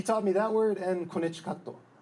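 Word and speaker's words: コネチカット: He taught me that word and konnichikato, which is how you say Connecticut in Japanese.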